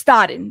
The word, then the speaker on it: Stodden: I'm like forgetting how to pronounce her last name. Courtney. It's Stodden.